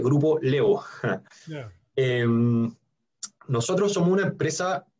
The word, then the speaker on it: Grupo Laevo: Se escribe Grupo La Evo, se dice Grupo Levo.